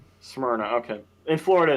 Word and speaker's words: Smyrna: that's rather nice um FYI is pronounced Smyrna not smna Smyrna okay in Florida it's